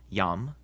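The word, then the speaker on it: iam: If a word begins with an I and the next letter is a vowel, like in these words, it's actually a consonant and sounds like our Y. So these are pronounced yam, yuno, and yaktatus. Also, when the I is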